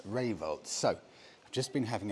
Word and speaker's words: Rayvolt: Now, I got the name wrong initially because I couldn't see that R. It's Rayvolt.